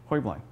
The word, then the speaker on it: Heublein: you're if you're talking about the company it's hubline talking about the family's timeline actually the correct pronunciation is hoibling uh but one of the things that they